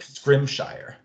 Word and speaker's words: Scrimshire: Mark Scrimshire.